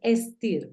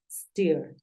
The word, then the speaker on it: steer: dirigir sería la traducción y como la pronuncias en en este caso es steer s no es stir porque el sonido en inglés aparece desde la es steer Claro que como hay